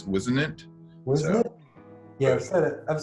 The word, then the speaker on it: Whisenant: I always say your last name wrong? That's right. Whisenant, did I get that right?